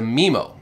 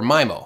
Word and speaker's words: MIMO: standard introduce us to memo or mimo however you want to pronounce it is totally fine it stands for multiple